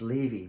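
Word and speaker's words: Laufey: And then I heard that female singer, I think it's pronounced Levy, but it's spelled Luffy, L-U-F-E-Y.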